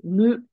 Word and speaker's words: 向: So this kanji is always pronounced as mu.